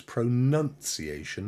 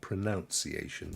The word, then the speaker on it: pronunciation: But the word is pronunciation, not pronunciation. Just to let you know, you pronounce a word, but the act of doing it is pronunciation. So it's a weird trick of the old English language, but it's what it is.